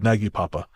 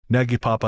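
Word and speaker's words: Nagypapa: And she says, just in case you decide to read this out on the show, Naggy Papa is Hungarian for grandpa, and it's pronounced kind of like nide, rhymes with tide.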